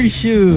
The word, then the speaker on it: Xu: And then one is last name XU. They pronounce it shoe, right?